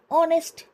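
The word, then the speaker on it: honest: अगला देखिए, शी is dash ऑनेस्ट girl. ओ ओ वाला प्रोनाउंसिएशन आ रहा है, तो एन ऑनेस्ट गर्ल।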